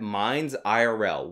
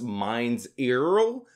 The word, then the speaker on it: Minds IRL: about my experience at mines IRL which is not to be pronounced mines zero as IRL actually stands for in real life bet you guys didn't